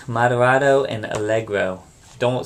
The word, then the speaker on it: allegro: sure you know those three Tempo terms it's pronounced Andante Mado and algro don't say it wrong I just said it